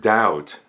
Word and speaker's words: doubt: The word doubt is one syllable. The B is silent. This word rhymes with out. Doubt out.